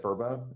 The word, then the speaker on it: Vrbo: I was saying VRBO, and was it VRBO? Is it correct? They rebranded, so yeah. Okay, cool. Called VRBO. Yeah. Vacation rentals by owners, and then they rebranded to VRBO.